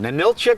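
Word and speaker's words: Ninilchik: with Terry Wickstrom hey we're up here in Manila chick Alaska is that right John all right you're pronouncing it right with John Baker of fish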